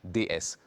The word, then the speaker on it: DS: Un grand lettrage, DS. Automobile, quand je le dis, prononcez-le à la française.